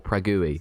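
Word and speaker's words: Praha: friend Amy uh who's living in Prague or pragi as they pronounce it over there you went toi just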